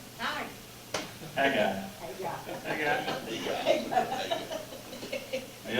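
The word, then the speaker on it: Haggai: H, J, It's pronounced like. Hey, guy. hi. Hey, guy.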